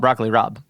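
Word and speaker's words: broccoli rabe: very differently and so the B is actually Southern Italian affectation the same reason capaca becomes Gaba goul so that's why we call it broccoli Rob it's really funny interesting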